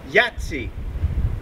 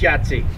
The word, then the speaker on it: Jajce: Today, we're in Jajce. We think it's Jajce. No. Bosnia. It's not. It's Jajce. Something like that.